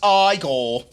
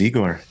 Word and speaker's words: Igor: it's Frederick Frankenstein I see you must be Igor no it's pronounced aore but they told me it was eigor well then they were wrong then weren't they